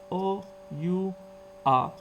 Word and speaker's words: hour: The first one is hour. Can you spell it? Yes. O-U-R. But we read it as our.